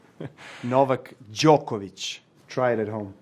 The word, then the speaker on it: Novak Djokovic: is just the beginning how does Novak Djokovic pronounce his name Novak Djokovic try it at home how does Novak Djokovic